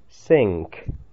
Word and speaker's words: sink: Внимательно, как это слово произносится. Вспоминаем правила чтения. Сочетание NK. Sink. Носовой звук должен получиться.